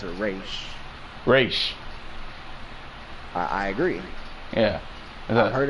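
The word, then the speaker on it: Ra's: Do you pronounce it Raz? Do you pronounce it Raish? Raish.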